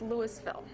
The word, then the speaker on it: Louisville: of recent developments this this isn't pronounced Louisville it's Louisville now their revitalization commission